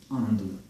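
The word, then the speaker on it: Ando: If you're having a hard time pronouncing the sound Andu, please check my video here. And notice it's not und nor and, it is Andu.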